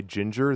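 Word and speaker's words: Jinjer: The song is called Pisces by Ginger. That's spelled J I N J E R. Come on. It's pronounced the same, but it's spelled with J's, not G's.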